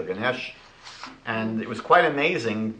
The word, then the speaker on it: Ganesh: Hindu elephant god ganish I think it's pronounced ganish or Ganesh and it was quite